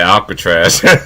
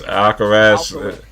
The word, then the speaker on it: Alcaraz: couldn't pronounce the name i was going to say alcatraz alcaraz it's like alcatraz was awkward okay that's something yeah that's the name alcaraz that's why i was